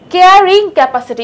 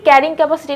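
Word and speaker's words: carrying capacity: সংখ্যাটাই আসলে ওই জীবটার কেয়ারিং ক্যাপাসিটি। ইংরেজি যদি আমরা দেখি, ক্যারিং ক্যাপাসিটি না, আসলে উচ্চারণ কেয়ারিং ক্যাপাসিটি হবে।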